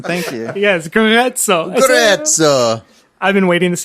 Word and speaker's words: Grezzo: I never thought to pronounce Grezzo as Grezzo. That's how it's really pronounced, isn't it, Jordan? Thank you. Yes, Grezzo.